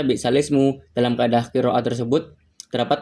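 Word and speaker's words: بئس الاسم: Jadi dalam ee bacaannya langsung balismu ee dalam kalimat kan balsal ismu kan. Tapi karena dibaca naqal, lafaz balsalismu itu cara baca bisalismu.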